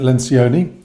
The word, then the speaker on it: Lencioni: Today I want to talk to you about this, the Five Dysfunctions of a Team by Patrick Lencioni. That's how you pronounce his name.